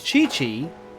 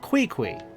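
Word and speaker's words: Qiqi: Like in her name's case, if it truly is Chi-Chi, then it should be spelled C-H-I-C-H-I. Not Kui-Kui. Because that's how her name is spelled. Her name is spelled Kui-Kui. So I'm going to say it how it's spelled.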